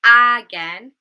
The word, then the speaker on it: again: So we don't say again, we say again, again.